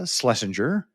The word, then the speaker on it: Schlesinger: Uh joining me today, Slesinger.